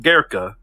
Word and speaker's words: Goeke: Chris Gerka. I'm gonna do it. Was first of all, his name is just fun to say because it's spelled Goeke, but it's pronounced Gerka.